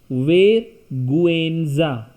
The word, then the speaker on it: vergüenza: Vergüenza. So we will pronounce each letter when we have diaeresis. Vergüenza.